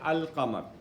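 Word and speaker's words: القمر: Like we can say ash-shams, we don't say al-shams, okay, but when it comes to qamar, we say al-qamar, okay.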